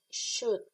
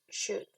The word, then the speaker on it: should: You say should. It's like the U and the L doesn't exist. You say should.